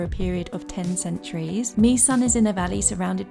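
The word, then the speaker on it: Mỹ Sơn: It's pronounced Me Son, not My Son.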